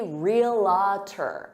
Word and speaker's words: realtor: really annoyed by it, some native speakers. So stick to 2 syllables because that's the correct way and say realtor.